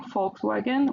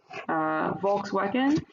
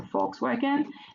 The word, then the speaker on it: Volkswagen: joint ventures with one Volkswagen or Volkswagen, because V is pronounced F in German, so Volkswagen, and GM, General Motors, from so one from Germany, the other from America.